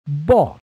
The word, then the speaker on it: bought: letters of the word bought in the proper order don't forget the silent letters g h